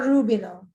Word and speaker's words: Rubino: Is it Rubino or Rubino?